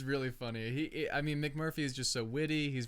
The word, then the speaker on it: McMurphy: McMurray? We don't want to get his name wrong. This is the main She guy. keeps calling him McMurray. They keep calling him he's McMurray. Like, my name is McMurphy.